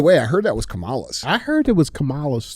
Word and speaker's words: Kamala: Her name should be pronounced Kamala. Kamala? Kamala. That's like that's an Indian name, of course.